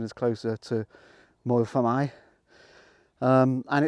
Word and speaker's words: Moel Famau: my or as English people would probably say Volvo but I think the correct pronunciation is closer to more than I and it's the offered that offers bike paths